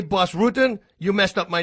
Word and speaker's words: Bas Rutten: I go like, guys, if you say Bas Rutten, you messed up my name. You butchered my name. Right. It's Bas Rutten.